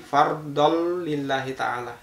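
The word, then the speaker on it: فرضا لله تعالى: kalau menggunakan tajwid maka hukum bacaannya adalah idgham bilagunnah karena fatahal Tain bertemu dengan lam setelahnya maka cara membacanya adalah a kita baca dileburkan bacaannya tapi tanpa demung jadi fardhol lillahi taala tanpa bingung itu alasannya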